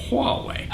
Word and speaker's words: Huawei: phones whether they're made by Motorola Samsung LG Huawei that's how you pronounce that Huawei Android is all about openness and I get